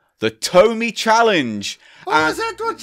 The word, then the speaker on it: Tomy: We said Tomy, not Tony. It's pronounced Tomy.